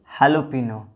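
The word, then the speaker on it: jalapeño: एक देखिए मैरी ओना, यहाँ पर जे का साइलेंट नहीं हो जाता, जे का उच्चारण नहीं किया जाता, इसको बोलेंगे मैरियोना। उसी तरह देखिए हालोपिनो, ये जो मैरियोना होता है ना, इसका मतलब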